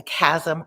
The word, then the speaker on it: chasm: A cleft, a chasm, or an abyss. So, notice that spelling of ch is said chasm.